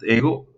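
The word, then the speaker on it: ἐγώ: Y para el otro caso que es ego, en realidad ego simplemente es ego, igual que en el latín, es el pronombre de yo, el pronombre de la primera persona del singular.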